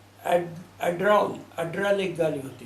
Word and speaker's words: Adler: और उसके उसी कंपनी की उसी ज़माने की क्या है, एड्रॉल एक गाड़ी होती थी, एड्रॉल, स्पेलिंग ADLER, एड्रल।